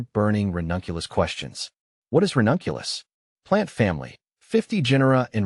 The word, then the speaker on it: Ranunculus: What is ranunculus? Plant family. 50 genera in Ranunculaceae. Buttercup family Ranunculus, pronounced Ranunculus, is a genus of flowering plants belonging to the buttercup family, Ranunculaceae.